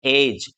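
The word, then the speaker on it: edge: तो आप यहाँ देखेंगे डी के बाद में जी है तो हम इसको एड्ज नहीं बोलेंगे, क्या बोलेंगे, एज।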